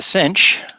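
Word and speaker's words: sinh: and you know what I think people put those soundings like Kos and cinch to remind them to put the H in because when I say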